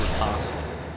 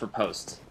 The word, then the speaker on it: riposte: 664 on the riposte. I was corrected by one of you guys, very angrily, well, not very angrily, I've been calling it riposte, probably due to liking Ian B's videos, and